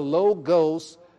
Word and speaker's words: logos: The logos, L-O-G-O-S, and pronounce logos.